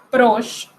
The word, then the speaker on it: proche: La E final no se pronuncia, como en la palabra proche.